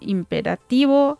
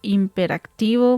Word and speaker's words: imperativo: Hoy vamos a ver algunos como el imperativo. Anteriormente yo había dicho imperactivo. Muchas veces ese eh video está mal. Si lo escuchan hagan caso de eso. Y ahora lo voy a pronunciar como se debe. Imperativo.